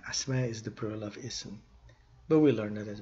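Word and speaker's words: اسم: So ism, if you stop with a sukun instead of pronouncing the tanween dhamma, instead of saying ismun, we will say ism, or fi'alun, fi'al, harfun, harf.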